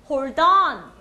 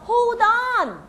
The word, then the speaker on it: hold on: hold on. 강세는 on에 넣습니다. 그래서 hold on.